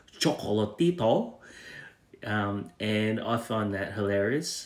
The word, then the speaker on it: Chocolatito: how to pronounce chocolatito the pronouncer was pronouncing a chocolatito and it's actually chocolatito and i find that